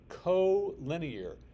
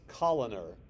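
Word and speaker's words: collinear: these three are called co-linear yes I know it looks like it should be pronounced Coler because of the Double L I don't know why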